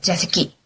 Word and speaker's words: 座席: 네, 자세키. 욕 같죠, 그죠? 일본어 중에 새끼 들어가면 다 욕 같아요, 그죠? 네, 발음 조심하시고요.